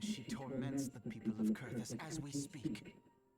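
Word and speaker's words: Coerthas: Now, least of all, the Ixel have summoned Garuda once more, and she torments the people of Curtis as we speak. Well, that's how you pronounce it. Kurtus.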